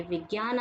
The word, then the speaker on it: विज्ञान: की मात्रा और न, ये विज्ञान आजकल बोलते हैं। सही अगर इसका शब्द, इसके अगर आप सही उच्चारण है तो विज्ञान।